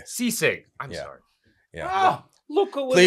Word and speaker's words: Sisig: It was literally one of the best Sisig I've ever had. Am I pronouncing that right? I'm sorry. Sisig. Sisig.